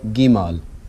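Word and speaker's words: Gimel: Okay, our next letter is called Gimal. For Gimal, you write it like this. 1, 2. All right, let's try it again. 1, 2. 1, 2. Gimal makes the G sound.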